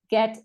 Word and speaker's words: get: These are pronounced as G, get, give, and giggle.